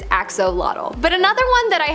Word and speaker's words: axolotl: There is much speculation as to how to pronounce the name of this creature, but for the most part, most people believe that it is axolotl.